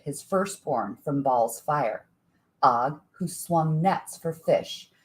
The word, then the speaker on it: Og: Og, who was Og's brother and who died in the first moments of battle. Og, A-G instead of O-G, in case you're not hearing the pronunciation.